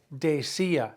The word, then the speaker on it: decía: She used to say, she was saying, decía, D-E-C-I-A, accent on the I.